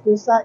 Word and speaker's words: Nusa: Nusa, actually Nusa is from the word Nusantara. So we like it to make it like 2 syllables. Nusa, easier to pronounce, easier to remember.